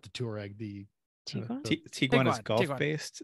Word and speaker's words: Tiguan: I know, but I They're like to very tell him that it's just an overpriced Tiguan. Got Or, it. yeah. Let's settle this now. I think it rhymes with pecan.